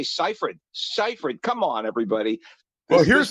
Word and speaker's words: Seyfried: Did they not give them a pronunciation guide to say Seyfried? Seyfried.